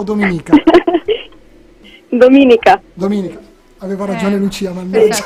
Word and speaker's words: Dominika: Mi togli sto dubbio, come si pronuncia, Dominica o Dominica? Dominica.